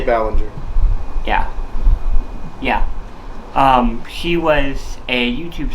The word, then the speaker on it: Ballinger: YouTube star named Colleen Bollinger. Sorry if I mispronounced your name, Colleen. I got no issues with you. You meant to say Ballinger.